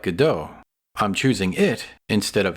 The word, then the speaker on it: Godot: How do you pronounce it? Godot.